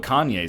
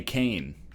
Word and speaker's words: Kanye: You know what Kanye said? I'm Kanye, but some of my plastics still say Kane.